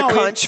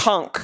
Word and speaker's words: conch: a lot of people say i'll have the punch fritters oh it's oh it's conch it is it's conch oh i stick with